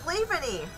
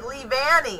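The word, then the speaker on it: Leavanny: oh my goodness oh we are connected with levany or actually lee vanni is actually what's called so that's pretty cool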